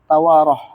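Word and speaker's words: توراة: Afwan, di situ bukan Taurat ya, tawarah. Tiwarah. Ya mungkin tiwarah di mana? Taurat gitu ya. Ini Taurat, tapi bacanya salah tadi.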